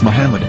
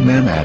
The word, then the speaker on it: Muhammad: yehuda's Hebrew English dictionary it is correctly pronounced as Muhammad not mmad so how we're going